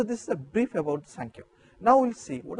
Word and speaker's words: Samkhya: When I said Samkhya, you can mark that Sa.